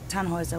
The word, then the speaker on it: Tannhäuser: We'd pronounce it Tannhäuser with an umlaut.